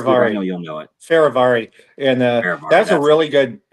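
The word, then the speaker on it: Fehérváry: uh they lock in one of their uh free agents um Martin how do you how do you pronounce his last name I know you'll know it faravari and that's a really good I the last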